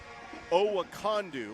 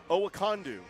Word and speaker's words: Okondo: I'm trying to make sure I got this kid's name pronounced Oakandu. Like like Wakanda. Like Wakanda. Oacondu.